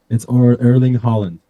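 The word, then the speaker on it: Erling Haaland: Holland Holland Holland Holland Holland oh Holland it's erling Holland erling Holland yes okay there we go we got the pronunciation right hey Google how do you pronounce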